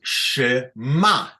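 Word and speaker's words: שְׁמַע: Look, the ta'am is underneath the tachat hamem, Ken, and that's shema. This tells us the accent is here under the mem.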